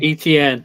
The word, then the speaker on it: Etienne: ETN.